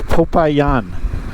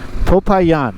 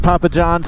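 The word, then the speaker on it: Popayán: of this city was and it it is pronounced popayan popayan and popayan looks beautiful look at these mountains absolutely gorgeous uh so it's not Papa John's after all popayan which you know that could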